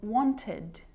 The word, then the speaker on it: wanted: like it is in wanted so you can hear the e d sound there and want Ted it's